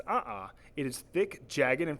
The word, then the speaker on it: a'a: A'a lava is pronounced a'a.